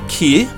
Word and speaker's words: Kia: Kia and that's pronounced care it's it's almost you almost don't say the a key it's almost like Kia without the a at the end of it and then the next